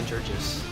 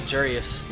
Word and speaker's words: Jurgis: It's actually Jurius. Oh, okay. It's like Greek, yeah.